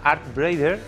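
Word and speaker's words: Artbreeder: fin todos estos se ha utilizado el programa Art braider fíjate la pronunciación eh Art braider Art braider Art braider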